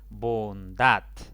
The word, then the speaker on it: bondad: Bondad. Esta palabra tiene 2 sílabas. La mayor intensidad cae en la última sílaba.